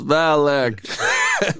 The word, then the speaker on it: Valak: 2 uh, syllables. Valak. Fire. Like Dylan.